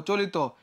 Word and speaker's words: চলিত: চলিত, কি যুক্ত আছে, ইতো আছে, তাহলে এটা কি হয়ে যাবে, লি তয় ওকারে তো, চলিত।